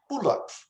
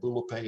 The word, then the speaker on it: Bulape: And when I inquired about it, turns out they were saying Bulap, Bulap, with almost a blowing at the end of it. And I suddenly realized, son of a gun, for 100 years, Presbyterian missionaries have been mispronouncing the name of this village. And now I think the Congolese have pretty much given up and they just call it Bulape as well.